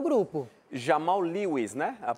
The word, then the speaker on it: Jamal Lewis: que cheguem para resolver e ajudar o grupo Jamal Lewis né a pronúncia correta né ele ele ele estreiou também